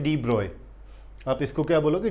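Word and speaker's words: de Broglie: है, लास्ट के अंदर डी ब्रॉय एक साइंटिस्ट हुए। डी ब्रॉय पढ़ने में लिखा जाता है इसको डी ब्रॉगली, लेकिन एक्चुअल में इसकी एग्जैक्ट प्रोनाउंसिएशन क्या है? डी ब्रॉय।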